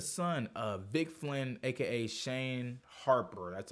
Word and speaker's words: Shane Harper: But even the son of Vic Flynn, aka Shane Harper, that's how you say his name, I was even interested with his character.